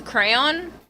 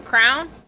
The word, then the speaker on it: crayon: Um, how do you guys pronounce the thing that Crayola is known for. Um, because I say it's a crayon, but I keep seeing these videos online and